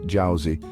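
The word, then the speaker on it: 饺子: history dating back over 1,800 years dumplings jouy pronounced JY have become an integral part of Chinese New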